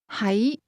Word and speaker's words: 喺: That question contained both the words to be, pronounced with a low-level tone, and to be located, pronounced with a mid-rising tone.